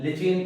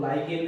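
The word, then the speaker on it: lichen: लिचियन plant से, जिसको लोग लाइकेन भी बोलते हैं। मेरा प्रोनाउंसिएशन हिंदी मीडियम वाला है भाई, तो ये लिचियन कह दो या लाइकेन कह दो।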